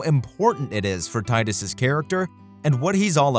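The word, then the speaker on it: Tidus: important it is for titus's character and what he's all about and yes titus not titus titties whatever i don't care that that's how the game's creators say it's pronounced titus sounds much cooler okay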